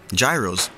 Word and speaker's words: gyros: Gyros are a Greek staple, and as often as I've had them, I've been saying it completely wrong the entire time, as they're correctly pronounced gyro.